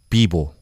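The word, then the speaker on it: pivo: 비보. 비보. 그러니까 약간 B를 이제 사실은 좀 격음을 발음하고 예. V를 발음하거든요. 비보 이렇게.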